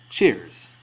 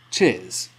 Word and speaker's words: cheers: our word today which is cheers Americans would pronounce this word cheers whereas in Britain we say cheers now you can use either The American or